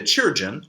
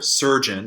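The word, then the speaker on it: Chirurgeon: Sadly, the Churgeon, or Surgeon in modern pronunciation, can't attack. This word is a very old variant on Surgeon, by the way. I do like the pronunciation Churgeon, though.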